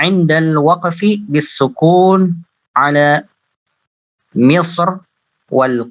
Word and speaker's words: مصر: Misr, tafkhim ya. Untuk Misr, Ibnul Jazari ini membacanya dengan tafkhim.